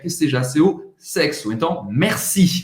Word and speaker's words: merci: Então, merci. Você vai pronunciar o R no meio.